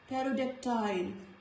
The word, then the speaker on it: pterodactyl: Letter P is silent. Pterodactyl.